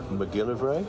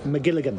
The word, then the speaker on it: McGilligan: do think and I'm going to get his name wrong now, but the Hitchcock biography by Patrick McGilly McGilligan.